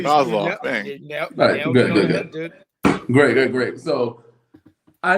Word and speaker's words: Kozlov: Kozlov, I think is how you say it. Yeah, Kozlov.